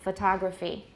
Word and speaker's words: photography: to fix it like if we've said photograph many times and suddenly we see the word photography we might say photo whoops photography kind of slow fashion just